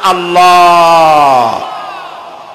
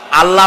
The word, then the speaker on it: আল্লাহ: জমিনের দিকে আল্লাহর নাম আল্লাহ বলেন তো আল্লাহ নয় কিন্তু আল্লাহ হচ্ছে অশুদ্ধ শুদ্ধ হচ্ছে আল্লাহ বলার সময় মুখটা গোল হয়ে যাবে বলেন তো সবাই উচ্চারণ